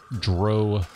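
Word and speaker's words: drow: ice one Dale to Dro playthrough and yes I say dro not draw because dro rhymes with moe not with cow even though Bob will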